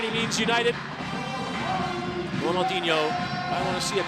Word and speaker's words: Ronaldo: There's Ronaldo. Prefer for your Brazilian pronunciation, Honolulo watching on from the dugout.